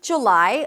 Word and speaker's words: July: In British pronunciation, by the way, you'll hear more of an oo sound.